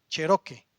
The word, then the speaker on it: cheroqui: Cheroque se se pronuncia así, ¿no?